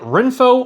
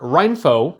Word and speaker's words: Renpho: the company Rin faux either you pronounce it Rin foe or Rhine foe and just like all